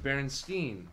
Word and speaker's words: Berenstain: It's pronounced Berenstain, but it's spelled Stein if you were to spell it, like, in English.